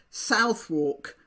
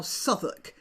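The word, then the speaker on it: Southwark: to be right so this would be pronounced by mouth America by most Americans as South walk I suppose but over the years it has eroded in British English and it's now Suffolk just so you know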